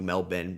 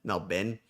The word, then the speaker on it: Melbourne: It's Melbourne, not Melbourne. Thank you. Thank you, Melbin. Melbourne. Melbin.